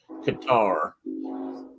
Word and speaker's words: Cottar: And that's him right there, Charles Qatar. Oh, that's your train, isn't it? And it's spelled Cottar, and that picture was taken in 1910.